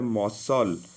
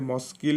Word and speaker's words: muscle: एटा मसल, मसल देखो MUSCLE, जदि सी को आम पढ़ी था मस्किल होता है जमी साइकिल हुए, तो सी जेहेतु साइलेंट अच्छी मसल बोली पढ़ो।